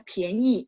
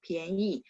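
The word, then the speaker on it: 便宜: Pian itu P-I-A-N, bacanya PH jadinya ya. Ini karena dia ada dua cara baca, jadi si komputer mentranslate-nya jadi pian. Ada satu cara bacanya fang pian, tapi bukan di sini ya. Kalau ini dia gabung sama i, jadinya pianyi, murah ya, pianyi.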